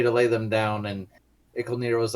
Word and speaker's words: Icolnir: were just about to face the trial of Icolnir. Icolnir. I forgot how to say it. Yes. Not Donathier, like I mispronounced the name, but Icolnir.